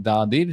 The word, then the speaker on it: the: সবসময় একটা কথা বলেছি দাদির সিভি কনসোনেন্টের আগে থাকলে দা আর ভাওয়েলের আগে থাকলে হচ্ছে দি এর আগেরটা যেমন দেখেছি দ্য ডেফ ফ্রগ কিন্তু এইখানটাতে